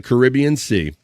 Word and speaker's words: Caribbean: the species and the first record from the Caribbean Sea or Caribbean depending on how you say it.